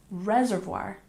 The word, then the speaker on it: reservoir: number 17 we have Reservoir we stress the first syllable and we pronounce Reservoir not reservoir reservoir reservoir one more time Reservoir good and number